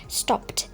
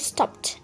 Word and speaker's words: stopped: আছে আমরা বলে থাকি স্টপড, অর্থাৎ আমরা এই শব্দটার জন্য ডি উচ্চারণ করি। বাট এখানে কারেক্ট প্রোনাউন্সিয়েশনটা হবে স্টপড, আমাদেরকে টি উচ্চারণ করতে হবে এই শব্দের শেষে।